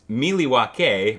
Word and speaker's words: Milwaukee: in the motherland in milwaukee actually aaron it's pronounced miliwake which is algonquin for the good land i